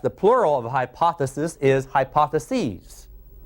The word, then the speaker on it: hypotheses: plural of hypothesis is hypotheses I'm emphasizing the letter e they're hypotheses that's the only difference